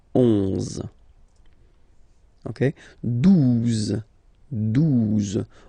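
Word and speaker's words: douze: phonetically, 11, okay, 12, 12. O, U, the two together will give you the sound OO, okay? And then Z, 12, 12, all right?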